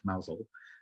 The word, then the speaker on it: Mousehole: tiny little town called mousel um it looks like mousehole but it's pronounced mausel and it is the